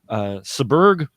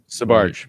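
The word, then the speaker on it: Sbarge: It was Raphael Saberg. I hope I pronounced that. Sabarge. Sabarge, thank you. It's late. It's Raphael Sabarge, so look for that interview soon.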